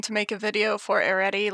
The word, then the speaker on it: Arete: Arete is, by the way, an Americanized pronunciation of the Greek name. I can do this. Arete. Arete. Arete. I tried. I made this easy alternative pronunciation for people like me who can't trill to save their lives. The Greek letter rho, there R, it has a bit of a trill to it, I think.